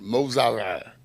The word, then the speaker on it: Missouri: Well, I pronounce it Mozara.